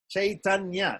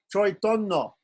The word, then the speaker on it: Chaitanya: In Bengali, they'll change the AI, becomes pronounced oi, not I, oi. And the NYA, the nya, they drop the Y, just like they drop the S with a dot from Parikshit or from Kshatriya. So we'll say Sanskrit, Chaitanya, but a Bengali will say Choitonno. Choitonno. The A becomes O. The I becomes Oi. The Nya becomes N.